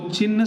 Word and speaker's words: चिन्ह: ची ह न, ये वाला ही, ए वाला ही सही उत्तर है। ची ह में हलंत और न, चिन्ह।